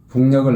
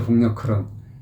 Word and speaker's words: 북녘: 북녘을 날아간다. 예. 그냥 북녘클이라고 또 하는 사람도 있어요. 무슨 북녘클이에요, 북녘클은. 북녘클이죠, 북녘클. 예. 북녘을 날아간다 하지, 북녘클 날아간다 그래요. 도대체가. 예. 그래서 발음도 이 정확하게 해줘야 돼요.